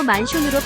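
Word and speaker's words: マンション: 우리나라의 아파트에 해당하는 주택을 일본에서는 맨션이라 부른다. 일본어로 만숑으로 발음한다.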